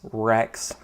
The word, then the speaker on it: WRX: name it makes sense you could pronounce wrx rex um but i'm about